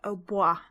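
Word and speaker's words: hautbois: The only ones which might seem odd are fagotto or fagot, and the French word for oboe, which looks like haut boys, is actually pronounced oboe.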